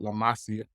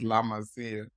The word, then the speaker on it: La Masia: La Masia, I think is Barcelona's academy is called. I was an uneducated man. I like to call it La Masia, but it's La Masia.